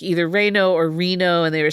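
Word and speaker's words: Reino: So, Reo. Yeah. Not like the city in Nevada. No. When I was like looking up the pronunciations of it, it's like either Reo or Reno.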